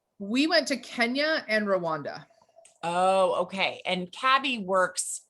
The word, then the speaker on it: Rwanda: heard it's also called rhonda but that is idea yeah so it is pronounced that way it is yes yes the phonics teacher in me has to say the w but you are correct